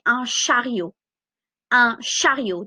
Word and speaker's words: chariot: Un chariot. Do not pronounce the T. Un panier. Un caddie. Un chariot.